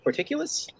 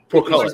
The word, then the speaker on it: Portcullis: I got to say, I think that I don't know how to pronounce the word because I'm not from the 1600s, but porticulus? Portcullis.